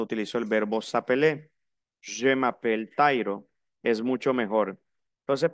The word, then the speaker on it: m'appelle: Aquí hay una M, pronuncio la M, je m'appelle.